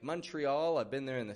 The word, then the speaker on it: Montreal: And when you catch that plane to Montreal, don't give it a Montreal or a Montreal, but a Montreal. O becomes a U, and TR becomes a CHR, kind of CHR sound in pronunciation.